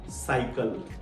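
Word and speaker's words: cycle: ई सीवाई सी एली हम पहले वाले सी को स पढ़ रहे हैं और दूसरे वाले सी को क पढ़ रहे हैं ये क्यों ऐसा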